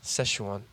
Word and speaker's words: Szechuan: Because I still don't know if I'm pronouncing it correctly. Yeah. Well, it's Szechuan sauce. Szechuan.